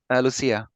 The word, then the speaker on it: Lucia: Lucia, is that how you say it? Lucia. Yeah, the Lucia, that's it. Croatian.